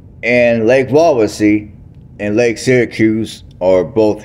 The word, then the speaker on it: Wawasee: So the lake is called Lake Wawasee, and Lake Wawasee and Lake Syracuse are both here in Syracuse, Indiana.